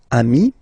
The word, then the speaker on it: amis: So ami, remember, doesn't change. Even if you get to write the S, then you don't pronounce it.